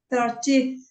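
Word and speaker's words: thirtieth: Paula 13th 13th 13th you need to say the th at the end 30th that's better 15th 15th good good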